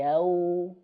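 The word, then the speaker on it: يوم: Maliki, Maliki yaum yaum, ketika wau monyongkan ya, ini kan dia sukun nih. Kalau sukun berarti harus dimonyongkan teman-teman. Kenapa? Karena wau itu makhrajnya dua bibir yang dimonyongkan.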